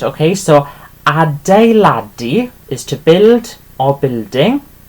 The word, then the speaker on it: adeiladu: Okay, so the E there is the U sound. Okay, so adeiladu is to build or building, and pronounced like this.